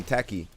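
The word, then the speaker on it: Tachy: as well yeah so she's not t she's tacky I've been calling a talki mad times because like me and some other people in the chat was like how do you pronounce that it's talki right it's actually tacky okay cool oh you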